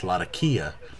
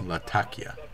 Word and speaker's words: Latakia: Apparently, somebody in one of the forums is native to the area and he says, "No, it's everyone says Lakia and he says, "No, it's Latakia."